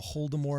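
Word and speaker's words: Holodomor: The Voldemort is pronounced the Holdemort, and it means the Great Starvation in the Ukraine.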